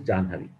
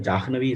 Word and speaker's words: Jahnavi: The easier to pronounce is Janhavi. So I don't want to argue that Jahnavi is wrong, because the North Indians will say it is not correct. But from the ease of pronunciation, Janhavi, and because of which Vedas are pronounced like that. And that is the pramana for South people to take Janhavi.